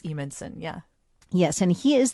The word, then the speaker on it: Evenson: spelled strangely, but it's Evenson.